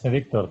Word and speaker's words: Mediktor: So, if you could just tell us a bit about yourself and about Mediktor, is that the right pronunciation? Yes, Mediktor.